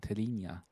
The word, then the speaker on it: Telinha: And luckily, I also know how to pronounce Telinha with a Y.